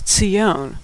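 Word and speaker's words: ציון: In fact, the Hebrew word for what we call Zion in English is Tzion.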